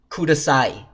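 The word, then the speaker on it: ください: like this but close when a and E are next to each other they combine to just become I and example I haven't this is the little tag ending for words that is a kudasai which means police so it is khuda saw e becomes kudasai and then similarly down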